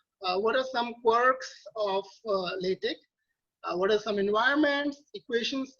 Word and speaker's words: LaTeX: with a k even though it's x it's pronounced as latex um so i'm going to talk about why